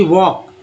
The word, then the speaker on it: walk: उसके बाद देखिए LK को, जैसे कि वॉक, टहलना, है ना, वॉक, WALK, वॉक। L silent है।